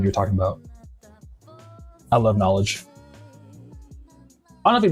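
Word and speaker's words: Knxwledge: They have a ton of vinyl that's all just like beats and get Knowledge NX WL like that, you know? So it's spelled Knowledge just with an X instead of a O.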